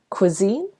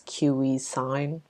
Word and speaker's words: cuisine: start with some vocabulary cuisine cuisine uh the way it's spelled uh people sometimes mispronounce it as Q sign but it's actually Cuisine and this refers to